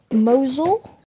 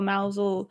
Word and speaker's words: Mousehole: the town of, well, it's spelt mousehole, but I believe it's pronounced Mosul. I think it's like that, Mosul or Mousel, because I remember reading a book, a children's book, about a cat who lived in Mousel.